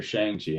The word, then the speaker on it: Shang-Chi: Is it Shang-Chi or Shang-Chi? I thought it was It's Shang-Chi. Shang-Chi.